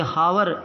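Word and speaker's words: hour: एन आर एन आर ये हावर है इसमें साइलेंट है अभी फर्स्ट ग्रेड जो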